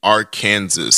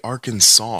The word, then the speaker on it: Arkansas: would have made kansas why don't we just say kansas and our kansas since they're spelled the same way why do we say arkansas do you ever hear